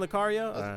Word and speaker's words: Lucario: yeah Lucario was on bra that's how you pronounce his name Lucario yep that's a Pokemon named Lucario yeah he's